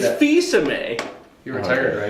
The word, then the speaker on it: Fils-Aimé: what, I mentioned It's that- Fils-Aimé.